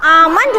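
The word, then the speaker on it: almond: मी बादाम in English आल नहीं होगा आमन होगा एल को साइलेंट करना है स्टूडेंट्स हमें ठीक है एल साइलेंट लेटर है तो क्या बोलेंगे आमंड आमंड आमंड मी मीस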